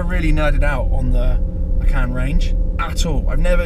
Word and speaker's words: Macan: Macan. It's a Macan.